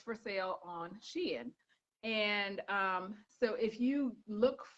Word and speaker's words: Shein: I think it's she and N, like the ampersand, but everyone just calls it Sheen or Shine. I call it Shein because that's what I thought.